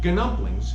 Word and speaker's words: gnumplings: noki is spelled g-n-o-c-c-h-i so i call the dumplings ganumplings g-n-u-m-p-l-i-n-g-s so let's start cooking okay the